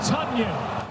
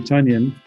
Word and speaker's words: Tonyan: That's Tonyan, his 6th of the year. I tell you, first, did not know it was Tonyan. Bobby Tonyan, which I guess is how you're supposed to say it now.